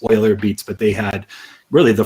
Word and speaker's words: Euler Beats: It really started with Euler Beats, or it looks like Euler Beats, but I think the correct pronunciation from the devs there is Euler Beats.